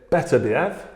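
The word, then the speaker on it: Beterbiev: against Art bov yeah I would pronounce him because people say better beev better beev better beev I say better beev because I've asked a few people around in the industry and apparently we pronounce it better be okay there you go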